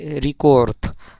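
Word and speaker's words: рекорд: তো ইয়া পাবিলা মীরা ভই রিকোর্থ। এখানে রিকোর্থ, ইংরেজিতে রেকর্ড, বাট রাশিয়ান ভাষায় এটাকে রিকোর্থ, রিকোর্থ। যদিও লাস্টে দে আছে কিন্তু এটার উচ্চারণ ত হবে।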